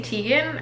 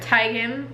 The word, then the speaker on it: Teigen: big fan of Chrissy Teigen or Tigan I guess is now how it's pronounced but I'm still gonna say Teigen I'm sorry if she